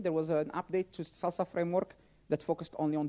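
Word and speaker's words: SLSA: framework called Salsa um there is an a missing but we still pronounce it salsa uh and it stands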